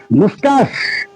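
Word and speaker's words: moustache: গুফ, দেখো গুফ, গুপ, MOUSTACH, সিএইচটা তালিবাস্যর মতো উচ্চারণ করতে হবে, ঠিক আছে? এটা প্রনাউন্সিয়েশন হবে মুস্টাস।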